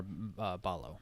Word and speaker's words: Ballo: Some notable ones from basketball were Ballo, is that how you say his name, from Arizona? Yeah. Omar Ballo.